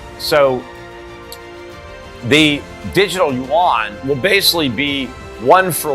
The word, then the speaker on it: yuan: now have a cyber is it yuan is that how they say it yuan i believe yeah the yuan yeah